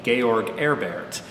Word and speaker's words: George Herbert: out in the boonies he probably pronounced his own name georg erbert and his poetry is